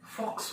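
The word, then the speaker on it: Volks: सारे लोग बोलते हैं बॉक्स वाले, ये लिखते बॉक्स है लेकिन पढ़ते हैं फॉक्स wagon, फॉक्स wagon, फॉक्स wagon.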